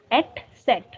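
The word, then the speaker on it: Eszett: This looks like a beta sign or B, that is et set, which means double S. Set. Et set. Yes. Et So at times in German where we have to use double S, we write this beta sign. This is et set or sharpest S, like a strong S.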